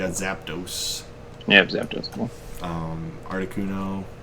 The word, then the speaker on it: Articuno: Articuno, which I always pronounced wrong when I was a kid. I think I said Arcticuno.